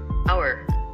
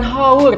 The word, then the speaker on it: hour: jam ya jam tapi cara bacanya gimana nih nah kita pastikan dulu di Google Translate tadi ya supaya kalian mudah coba Mister ketik dulu dan kita bunyi change our coba Hour Hour bukan haur ternyata jadi ternyata ini